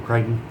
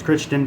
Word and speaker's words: Crichton: a lot of michael crichton i hopes not pronounce christian because that would be embarrassing but it is what